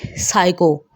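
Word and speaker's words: psycho: इसी तरह इसमें भी PS से कोई वर्ड शुरू होगा तो P वहाँ पर साइलेंट होगा यानी खामोश होगा।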